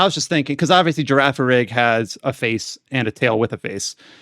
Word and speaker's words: Girafarig: Yeah, well, how do you pronounce the Girafarig? Is that the name of Girafarig, the yeah. Girafarig.